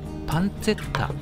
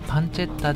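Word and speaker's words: pancetta: そしてパンチェッタはパンチェッタちなみにパンツェッタと発音するとジロラもかよと突っ込みが来ますので発音はパンチェッタで大丈夫ですパンチェッタはトリタート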